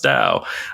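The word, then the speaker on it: Tao: Anyhoo, but if you're if you're struggling to remember how to pronounce dao, uh just think of the ancient one. That's the acronym the T AO and it's pronounced the ancient one just like DAO.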